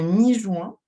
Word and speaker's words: Mi-Juin: Oui, du coup, ça se prononce mi-juin parce que c'est l'époque où les champignons sont en fleurs.